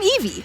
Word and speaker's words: Evie: Hi, I'm Evie, pronounced like Evie, and I'm 10.